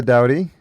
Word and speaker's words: Doughty: So Doughty, which rhymes with rowdy.